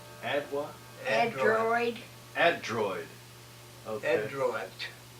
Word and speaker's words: Adroit: Adroit. How did you spell it?